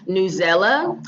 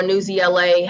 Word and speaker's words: Newsela: Another resource we recommend is Newsela or Newsela, however people want to pronounce it.